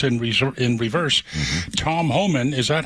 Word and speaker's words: Homan: of like tariffs in res in Reverse Tom Homan is that how you pronounce his name yes oh man man H